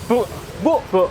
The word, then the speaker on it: buk: Ini bukan bukbuk ya, tapi Bu bacanya ya. Bu apa bacanya? Bu buk.